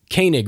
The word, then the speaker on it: Koenig: And my guest is none other than Hannah Koenig. Koenig, right? I pronounced it right?